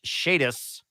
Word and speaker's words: Shadiest: Also, Bosco, my name is pronounced Shadiest. The first time you said it was on point.